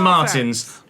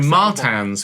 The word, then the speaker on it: Martins: Victor Martins. Sorry, Martans. Victor Martans. Get my pronunciation correct.